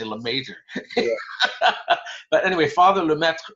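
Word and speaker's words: Lemaître: He says it's sort of like Lemaitre. Lemaitre. Yeah. Now most people say Lemaitre. That's how I say it. Yeah, but it's apparently Lemaitre.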